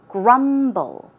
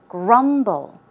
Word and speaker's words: grumble: eaten the pronunciation is Grumble grumble the stress goes on the first syllable one more time Grumble